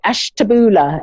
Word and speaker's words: Ashtabula: am hello um i i don't know if i pronounced that right ash taboola is that is that yeah correct that's correct oh good good good